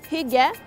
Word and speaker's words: hygge: Pour ceux et celles qui sont déjà familiers avec le Hygge danois, It's pronounced Hygge.